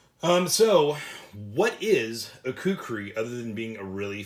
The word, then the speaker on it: kukri: so what is a kukri other than being a really fun word to say um well the kukri or i guess it is also pronounced kukuri um if i'm even pronouncing that right is a type of